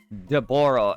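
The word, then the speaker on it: Dabura: Daboro, aka Dabara, is his actual pronunciation now.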